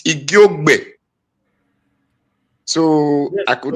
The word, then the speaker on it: Igiogbe: It's not Igiogbe, it's Igiogbe.